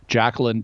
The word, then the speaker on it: Jacalyn: And it's the doctor who wrote it is Jacqueline Duffin. Her name is spelled a little unusually. Jacqueline is spelled Jacalyn. That's Jacalyn. And then Duffin is Duffin. So Jacqueline Duffin, author of Medical Miracles,